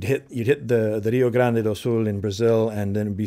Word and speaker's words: Rio Grande: Do is an old sea shiny called the Rio Grande and uh it's mispronounced that way that it's Rio Grande which is a river in Brazil and it's